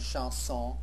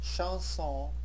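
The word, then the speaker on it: chanson: on the plural form both of the words are pronounced exactly the same way in the singular and in the plural Shon a courtly song from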